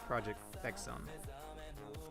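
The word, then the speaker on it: Project X Zone: If you want to be the proper pronunciation, if you want to be the cool cool guy pronunciation, it's project zone.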